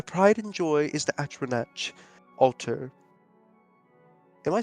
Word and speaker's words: Atronach: Atronach. Atronach? Atronach. Atronach? That's how you say it? Yeah, I've never said that right. That's funny. Atronach altar. Sorry, like atrocity, and then knock, Atronach.